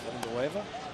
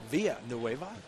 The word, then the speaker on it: Villanueva: That is Villanueva or Villanueva. Whatever you want to go. Whatever you want to go. Pronounce the L's. Don't pronounce the A's.